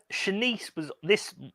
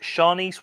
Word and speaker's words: Shanice: Dave Shawlin from the Gavin Report wrote, only in her teens, Shanice Wilson, that's Shanice, Oh, Shanice, sorry, not Shanice. Shanice. I'm adding extra syllables again, sorry.